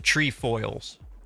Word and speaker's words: Trefoils: That's how they say what these are, the Trefoils.